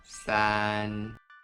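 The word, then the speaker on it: 三: The pronunciation in Mandarin is san, and in Japanese, san.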